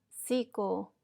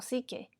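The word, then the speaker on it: ψυχή: la traducción proviene de la palabra griega que se pronuncia sio o psique que significa alma así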